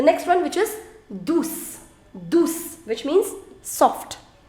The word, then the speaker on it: douce: Now the pronunciation is S. But if after C you have E, then the pronunciation of C is already S. You do not want to apply, you do not need to apply any accent over here.